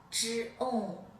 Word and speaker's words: 重: 重，重，重，重 zhong 重重，重，重 zhong 重。 Please say the syllable of zhong 重。